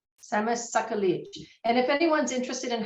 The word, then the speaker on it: Skagit: And if everyone listens, Skagit. can you do it one more time? Skagit. Skagit.